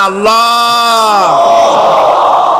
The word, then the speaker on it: আল্লাহ: নাম হচ্ছে আল্লাহ মুখটা একটু গোল হয়ে যাবে বলেন আল্লাহ আল্লাহ পৃথিবীতে বিভিন্ন